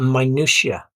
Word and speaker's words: minutiae: is first is a minutiae these are the tiny details so the clue is in the pronunciation it's it has the word minute in it it's like the word